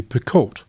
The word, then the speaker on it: Picoult: is the book of two ways by jodi picoult that's how you pronounce it another well-known writer dawn edelstein knows